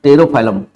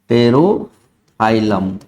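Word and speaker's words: Pterophyllum: परिमच्छा that is द टेरोफाइलम P remain silent tarot फाइलम P silent रहेगा टेरोफाइलम रहेगा इसको aquarium piece कहते हैं ओनली आपको मेराइन बनिफिश बहुत ज्यादा पूछता है।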